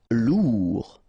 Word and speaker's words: lourd: Lourd. Final D not pronounced.